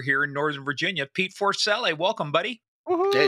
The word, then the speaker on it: Forcelli: But it's Forcelli.